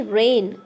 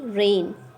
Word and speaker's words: reign: calif here you see rain r e i g n the pronunciation of this word would be rain it means rule in